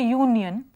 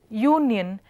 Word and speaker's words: union: here because the word Union is pronounced as Union but not Union the sound is not the sound of a vowel it is the sound of a consonant what this means is